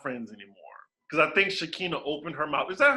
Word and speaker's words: Shekina: they are not friends anymore because i think shaquina opened her mouth is that her name shaquin am i saying it wrong does it matter you're right shakina recently spoke out about really that you right